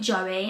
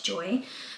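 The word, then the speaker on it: Joie: So I've been pronouncing it Joey, and it's not, it's Joy.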